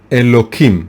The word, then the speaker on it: Elokim: name is of course elokim right it's written within with a hey with an H but we pronounce it with a K as I said not